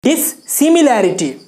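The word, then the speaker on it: dissimilarity: तो क्या कहेंगे इसका साइनो, डिसिमिलरिटी। क्या पढ़ेंगे इसको पढ़ेंगे डिससिमिलैरिटी। एक्चुअल उच्चारण हुआ डिससिमिलैरिटी। Okay, and the next word डिस्पैरिटी।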